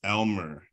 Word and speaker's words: lmer: when it's not generalist it's l-m-e-r it's Elmer I I thought it